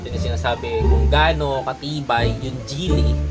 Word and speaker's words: Gille: kung gaano katibay yung gili o gili tinatawag na Sorry ha ah pronunciation nito is gile so This is Italian